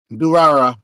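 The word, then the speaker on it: Durarara!!: Durara. Can y'all spell that for me? It's like do ra Durara.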